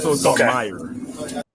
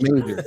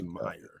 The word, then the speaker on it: Meijer: Oh, it's called Meijer. Yeah, it's called Meijer. Yeah, I thought it was Major. so the J is silent. It's Meijer. Okay, it's Meijer.